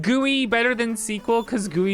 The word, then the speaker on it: GUI: How do you say gooey? Gooey. I do not say I don't think I've ever called it GUI. I say gooey.